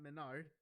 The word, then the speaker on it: MenaRD: To recall your memory, it was Angry Bird, who was the Ken player, and what I've come to learn is pronounced Mena RD, not Menard, but Mena RD, who was at the finals the Luke and Blanca player.